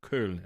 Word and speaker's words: Köln: Or you can go to Koblenz, or you can go to Cologne, or Köln, as you say it properly in German.